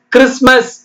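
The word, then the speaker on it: Christmas: இல்லாத எழுத்து என்னென்ன இருக்கு கிறிஸ்மஸ் அப்படித்தான் சொல்லணும் கிறிஸ்மஸ் சொல்லக்கூடாது சிச் இக்கு ரி இஸ் கிரிஸ் டி சத்தத்தை விட்டுட்டு ஆனா எழுதணும் எம்ஏ S mass கிறிஸ்மஸ் கிறிஸ்மஸ்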